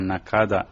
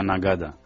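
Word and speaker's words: Naqada: con mayoría cristiana también se llama nakada en digamos en la lengua literal Pero según el acento de la gente de ahí se se pronuncia nagada y es un ahí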